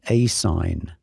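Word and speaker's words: ASIN: but notice this the a si n generally pronounced a sign this is the Amazon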